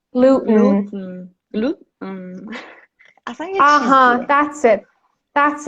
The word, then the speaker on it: gluten: you're mistaking the glottal stop for flap T. In the word better, yeah, when you want to flap your T, you say better. It's a combination of D and R sounds, okay? But here, it's not that kind of T. This is a glottal stop.